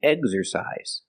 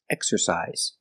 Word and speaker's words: exercise: It should be exercise, according to the rule, but it's not. It's an exception. It's pronounced exercise.